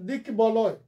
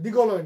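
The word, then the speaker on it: দিগ্বলয়: পরেরটা দিক বলয়, দিক বলয় ব উচ্চারণ হবে, দিগলয় না। অনেকে ভুল উচ্চারণ করে দিগলয়, দিগ্গলয়। নো, বফলার উচ্চারণ হবে দিক বলয়।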